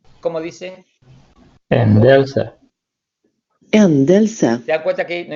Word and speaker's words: ändelse: Que se pronuncia así. Ändelse. ¿Cómo dice? Endelse. Ändelse.